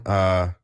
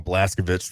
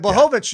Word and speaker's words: Blachowicz: But our co-main event, Jan Blachowicz. I always fucked it up. I want to call him Blaskovich from fucking. Yeah. Well, and it was being pronounced in ways that I had not heard